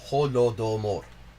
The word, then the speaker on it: Holodomor: It is not a complicated word to pronounce. Holodomor.